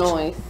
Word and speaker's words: Illinois: Illinois, by the way. But that's No. The S is silent.